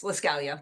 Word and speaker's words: Lascalia: So is it, let me start with is it Lascalia? Is that how it's pronounced? Yes, Lascalia. Yep.